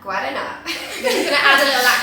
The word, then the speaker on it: Guaraná: This is, I think you pronounce it Guaraná. Guaraná.